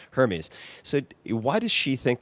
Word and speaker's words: Hermes: don't know if you would pronounce it Hermes or Hermes. Hermes, unless you want to refer to the scarves.